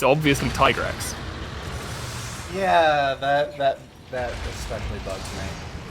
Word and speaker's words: Tigrex: It is the canonical pronunciation is Tigrex for some reason, Which, even though it's it's obviously Tigrex.